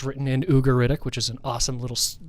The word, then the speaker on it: Ugaritic: up from 2000 DC yeah what's the word udic mean ugaritic I see I even mispronounced it what does it mean it's a